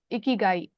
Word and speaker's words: Ikigai: Is that how you pronounce it? Correct me if I'm wrong. Yeah, Ikigai.